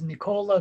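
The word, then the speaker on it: Nikola: we can hear it so the true name is nicola macedonian but american version is dr. Nick who's that's dope dr.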